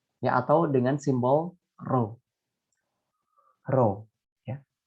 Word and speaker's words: rho: Rho, ya. Ini dibacanya rho.